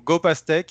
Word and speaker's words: GOPasteque: Is it GOPasteque? You're one of the rare ones using pronouncing it correctly. So, but I don't like to correct people. So GOPasteque is the right one.